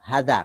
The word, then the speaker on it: hadza: Jadi meskipun ini mudhof ilaih jer, tapi bacanya tetap hadza karena mabni.